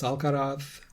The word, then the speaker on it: Alcaraz: Tommy Paul beat Carlos Alcaraz. I pronounce that how Carlos pronounces it.